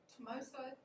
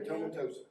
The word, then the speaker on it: tomentosa: Well, that's like the Polonia tomosa. Did I say it right, Robert? Polonia tomentosa.